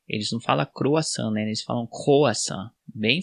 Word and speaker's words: croissant: A gente fala croissant. A única diferença é que o R na França é bem forte. Eles não falam croissant, né?